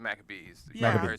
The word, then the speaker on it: Maccabees: so if anybody's wondering honeybees in america we pronounce the book of maccabees right yeah uh it's